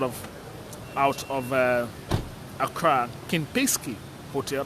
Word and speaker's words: Kempinski: out of uh accra kim pesky hotel i hope i'm getting the name pronounced very well uh is uh ken pesky that's how it is called here and if you just